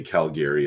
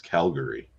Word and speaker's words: Calgary: That's like when we call it Calgary, y'all call it Calgary. Yeah. Well, you know what? I say Calgary, and that's not right. Apparently, it's Calgary.